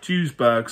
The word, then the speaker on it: Duisburg: I think it's pronounced Duisburg, something like that.